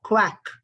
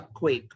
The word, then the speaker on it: quack: It's a quack and not a quake. A quake is something shaking with like an earthquake. So the pronunciation should be quack.